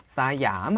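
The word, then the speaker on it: สยาม: 사이암 하고 읽으셔야 되는데 이 시암이었습니다.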